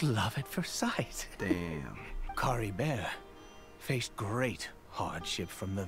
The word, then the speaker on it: Kaeya: Kaeya, that's what Kaeya. He pronounced it very French.